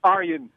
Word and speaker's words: Arjen: It's Arjen. Arjen, okay, Arjen. You can call me Arjen.